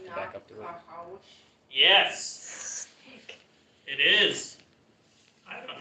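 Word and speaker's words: נחש: which is a little bit of a Hebrew wordplay because it sounds a little bit like the sound a snake makes. Snack. Nahash.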